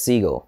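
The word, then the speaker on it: Segall: a different stuff he says he actually says Siegel okay and it and it cracked my mind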